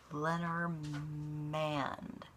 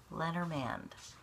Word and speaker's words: Lenormand: o our ma ND Lenormand Lenormand see by the end of this I can learn to pronounce hard words the letter man like a letter man kind of all right that'll at least make me remember it better maybe I should take